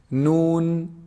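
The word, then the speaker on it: ن: Noon, noon is actually pronounced from the tip of the tongue when they hit, you see the upper incisors behind them a little bit.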